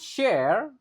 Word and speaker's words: share: If students share ingat kalau ada s sama H itu biasanya dibacanya syar. Jadi H-nya enggak dibaca tapi diganti Y. Lalu, A-nya dibaca kayak E. Share.